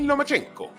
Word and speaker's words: Lomachenko: Vasil Lomachenko.